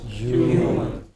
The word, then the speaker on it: human: Human. Stress on the first syllable, hu.